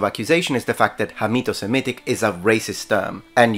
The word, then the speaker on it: Hamito-Semitic: also used the term Hamito-Semitic. Although I think I did mispronounce it on that video and I said Camito-Semitic with a K, that is because that's how we say it in Italian, by the way.